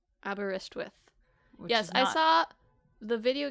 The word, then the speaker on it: Aberystwyth: So I think it's Aberystwyth. Aberystwyth. Yes, I saw the video game, like, it's not quite spelled like the real town.